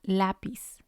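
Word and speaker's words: lápiz: that's what we're going to stress la pis otherwise it would have sounded like lapis lapis and it's completely different the second example is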